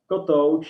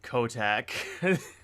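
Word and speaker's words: Kotouč: easy it's okay and kotoch it's divided as cod as something you sleep on and ouch as when you get hurt so yeah and the accent is on the second part of the name this is how i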